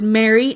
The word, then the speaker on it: Mary: merge, which is that the word Mary, M-A-R-Y, Mary, M-E-R-R-Y, and Mary, M-A-R-R-Y are all pronounced the same.